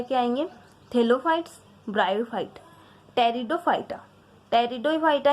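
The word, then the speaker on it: Pteridophyta: टेरिडोफाइटा यहाँ पे P silent है, पेटेरोफाइटा नहीं है, यहाँ पे टेरिडोफाइटा।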